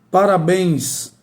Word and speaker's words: parabéns: Então, a sílaba mais forte é exatamente a última.